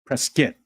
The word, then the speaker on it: Prescott: skit every time Prescot every place I ever ever lived that had Scott it was always kit instead presskit W kit what about